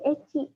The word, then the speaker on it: ecchi: Nah, ecchi ini yang ada apa namanya hurufnya ini E C C H I. Ecchi, dibacanya ecchi.